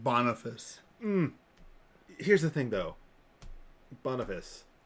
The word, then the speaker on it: Boniface: I love the name Boniface. Here's the thing, though. Boniface. Yeah. Not a great pope. Boniface. Bonyface. Just because it's Bony fun face. to mispronounce his I name like has nothing to do with pronouncing it.